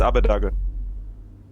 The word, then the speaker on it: Abbedagge: how do you say your damn name it's abu dhaka oh cool everyone please welcome abba duggar the